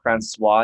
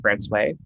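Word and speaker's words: François: and so one of them uh would be pronounced francois usually but we pronounce it france way and i feel like i have to like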